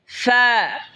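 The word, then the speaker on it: فاء: এরপর হলো ফা, ফা, ফা জিহ্বার ঠোঁটের পেট সামনের উপরে দুই দাঁতের আগার সঙ্গে লাগে উচ্চারণ হবে ফা, ফা।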